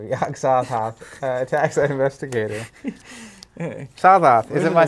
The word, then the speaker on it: Sothoth: Sothoth. Is it my saying it wrong? Sothoth. No. Sothoth.